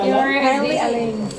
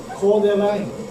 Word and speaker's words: Coeur d'Alene: Curly Lane.